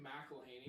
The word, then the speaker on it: McElhaney: It's actually McElhaney. McElhaney. You gotta say the A because A is silent. It makes a lot of sense.